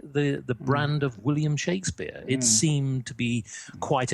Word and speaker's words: Shakespeare: So, we actually pronounce it William Shakespeare.